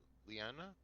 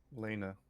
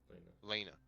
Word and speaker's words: Lena: I see uh uh is it Lanna how do you say your name lenaa Lena Lena if I see Lena looking